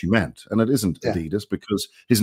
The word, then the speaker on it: Adidas: And I get there and it says, I'm like, oh, Adidas. He goes, no, it's pronounced Adidas.